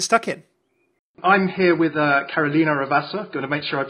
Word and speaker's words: Carolina Ravassa: I'm here with Carolina Ravassa. Going to make sure I pronounce it correctly.